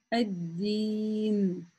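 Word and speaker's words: الدين: Гамзатуль-васль, как мы помним с вами, она не читается в потоке речи. Ну, так как я начала свое чтение с этого слова, да, я говорю «а-а-один».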